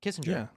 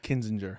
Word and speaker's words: Kinzinger: It's is his first name Adam Kissinger? Yeah. Adam Kissinger. Kinzinger. Kinzinger. Kinzinger. It's Adam Kinzinger. Kinzinger. I think his name is so Kissinger hard. His name is, is so hard to pronounce. It's not Kissinger.